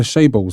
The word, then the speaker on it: chaebol: Can you talk to us about the chaebols in Korea? The chaebols? Chaebol. Oh, did I not pronounce it right?